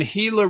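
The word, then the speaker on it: Gila: And and Hila River is spelled with a G. Correct. Yep. G like the Hila Monsters. GI. So, so it's really the Gilla River for for those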